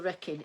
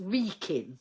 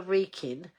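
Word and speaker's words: Wrekin: Going around the wreckin is a a hill near Wolver Wolverampton. Oh, right. Okay. Um, it's pronounced Reekin, right? So now I know. So going around the Reikin is a hill near Wolverampton to Shrewsbury route.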